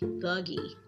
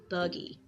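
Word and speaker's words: Thuggee: u g g e thuggy thuggy okay I believe that's how you pronounce I even looked it up and listened to them pronounce it thuggy and it says douge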